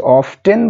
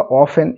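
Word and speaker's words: often: Omar অফেন roamed আচ্ছা অফটেন বা অফেন এটা যেকোনো একটা উচ্চারণ করতে পারো তোমরা তো অফেন বা অফটেন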